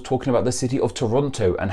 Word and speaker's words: Toronto: if you live in toronto or the greater toronto area the second t is never pronounced it's toronto there are